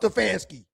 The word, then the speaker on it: Stefanski: Stefanski.